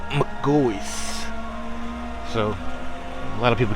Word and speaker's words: McGaughy's: so I know it looks like it says McCaffrey's but it's the family pronounced their name Magoo is like okay say for example McDonald's but um yeah look g-o-y-s is how it's pronounced McCoy's so a lot of people get that wrong